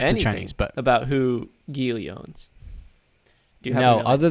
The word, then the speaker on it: Geely: So, let's move on to another company, one called Greeley. Geely. Geely, sorry. There it is. There's no R in there.